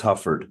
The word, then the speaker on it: Hufford: and I have to apologize did I pronounce your last name correctly it's Hufford but it was close thank you um and